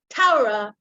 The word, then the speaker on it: Torah: and then she said the word taurah and i didn't know that in flatbush taurah is torah that's how they uh pronounced and she explained that